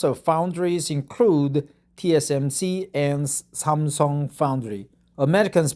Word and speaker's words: 三星: So the pronunciation is different, but basically we share the same Chinese characters. Samsung, Sanxing, or Samsung.